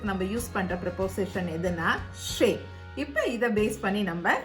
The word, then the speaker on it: chez: ஷே என்ன ப்ரிப்போசிஷன்னா ஷே அப்படின்னு ஸ்பெல்லிங் பாருங்க, CHEZ. இதை எப்படி ப்ரொனவுன்ஸ் பண்ணுவோம்? ஷே.